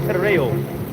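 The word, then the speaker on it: τηρέω: Now, when you go into that word keep there in the Greek, that word is pronounced tereo, which is where you get territory from.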